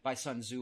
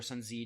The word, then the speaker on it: Sun Tzu: The Art of War is written by Sun Tzu or Sun Zi, depending on pronunciation.